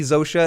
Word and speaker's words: Zosia: But I didn't give a shit about Zosha. Is that her name, Zosha? Zosha, yeah. It's Zosia. It's spelled Zosia. It's Zosha. That's how you pronounce it, I believe.